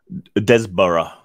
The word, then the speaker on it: Desborough: How do you say your name anyway? Desborough. Yes. Desborough. Very British pronunciation there.